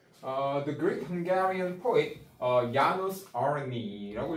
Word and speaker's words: János Arany: The Greek Hungarian poet János Arany라고 읽어요. 그죠? 제2자가 보통 Y 발음이니까 was born in Salonta in 1817.